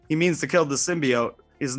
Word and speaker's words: symbiote: i always forget how to say it now symbiote symbiote that trailer screwed me forever symbiote um